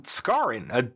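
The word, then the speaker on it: Skaaren: and last names and Warren scarin another guy with rhyming first and last names and some of you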